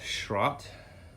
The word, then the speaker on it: Schroth: did find out that these are pronounced shrot they're a german racing company so uh make sure